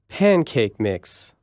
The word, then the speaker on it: pancake mix: Say these compound nouns and put more stress on the first part of the first word. Pancake mix.